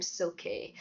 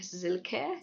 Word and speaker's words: Silke: But, the way Germans pronounce it is more like Silke, sort of like with a Z rather than an S. I remember saying to Rob, "Silke, is that a real name?"